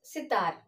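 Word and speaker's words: सितार: So while pronouncing itself, we can find as that the word is sitar. Sitar. Similarly as gilas, this is the word sitar. Not giving any stretching, not giving any stress.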